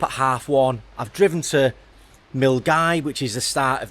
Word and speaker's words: Milngavie: This is pronounced Milngavie, and hopefully today we'll get somewhere along Loch Lomond as far as we can.